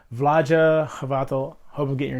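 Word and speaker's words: Vlaada Chvátil: games and designed by V's vaja havato I believe is pretty close to pronouncing his name I know it's not Vlad chavat so that much I know for sure vah havato hope I'm getting your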